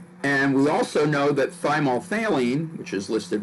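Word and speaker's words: thymolphthalein: our is yellow and thymol faylene and that's how we pronounce it failing kind of a pH th sound you say the pH super-quick it's mostly the th so it's by more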